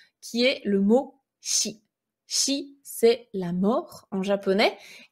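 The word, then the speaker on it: 死: est le mot chi si c'est la mort en japonais et c'est également l'une des deux prononciations du chiffre 4 le chiffre 4 il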